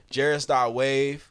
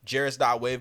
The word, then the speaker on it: Jaris.wav: So YouTube, Spotify, Apple Music, Jaris.wav. No E on the wave. And Jaris rhymes with Paris.